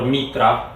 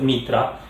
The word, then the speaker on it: Mithra: person got maestra or mitra i'm going to pronounce it mitra because as far as i know that's how it's pronounced originally um it that's spelled